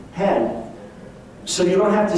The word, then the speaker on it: hen: new personal pronoun hen pronounced like chicken hen hen so you don't have